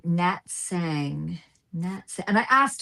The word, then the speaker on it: Sang: I will chastise myself for a week if I do not pronounce a person's name right. But Well, I Nat, called her last name Song, so and then she called me out on it.